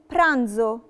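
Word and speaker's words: pranzo: برانزو. برانزو يعني وجبة. شفت الفرق ما بين نطقها لما قبليها، لما جت ما بين اتنين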